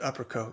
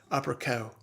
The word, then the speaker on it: Upperco: if you're from maryland you don't pronounce that uppercut you pronounce that opera cow thomas is watching from